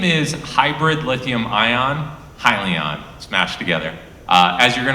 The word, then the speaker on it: Hyliion: undergrad, and then when in grad school founded Hyliion, which is now the company that we're running today. Yeah, and I realize now I mispronounced it, so it's Hyliion.